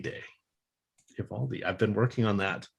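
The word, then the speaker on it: Eovaldi: he doesn't piss till monday but happy nathan evaldi day ivaldi i've been working on that pronunciation there is one lineup that has been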